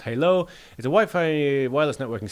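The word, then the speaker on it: HaLow: Wi-Fi Halo, as mentioned, pronounced Halo, is a Wi-Fi wireless networking standard.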